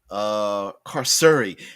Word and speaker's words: Carceri: Official pronunciation of pronunciation is carceri.